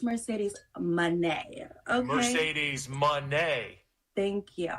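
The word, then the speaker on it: Mercedes Moné: your CEO that is Mercedes money she is a multiple time world champion she's a future uh she J make sure you say it right it's Mercedes Mane okay Mercedes Mane thank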